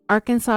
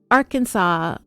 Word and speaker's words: Arkansas: pronounced AR Kansas River it depends on what region you are from the river itself generally